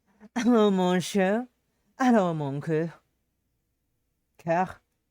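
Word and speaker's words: cœur: Coeur. It's pronounced coeur.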